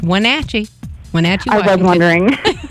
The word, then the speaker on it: Wenatchee: Well, I know we would love to see you here in Wenatchee, in case you didn't know how to say it. It's Wenatchee.